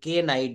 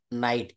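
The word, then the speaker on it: knight: থেকে শুরু করবো নলেজ একই নিয়মে নাইট নাইট মানে হচ্ছে অশ্ব বা ঘোড়া এটা আমরা কখনো কেউ কে নাইট বলবো না এটাকে বলবো নাইট এন থেকে শুরু করবো নি মানে হচ্ছে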